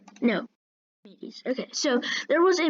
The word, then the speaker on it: Archimedes: Wait, let me check my pronunciation. No, Archimedes.